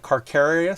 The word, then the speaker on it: Carcharius: He's got a shark as a thing, so it's like Carcharius. So it's like Carcharodon Megalodon. So Chapter Master Carcharius.